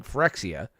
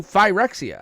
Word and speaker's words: Phyrexia: He was mispronouncing Phyrexia. What did he call it? Phyrexia. Yeah. He's like, we're going back to new Phyrexia. I'm like, it's Phyrexia. That's fine. It's a fake word, so either one I works.